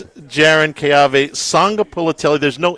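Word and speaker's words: Sagapolutele: Sanga Polutelli. Again. Keave. Sanga Polutelli. Again. Keave. Sanga Polutelli. Say it loud. Keave. Sanga Polutelli. One more. Keave. Sanga Polutelli. I practiced. So it's Jaron Keave Sanga Polutelli.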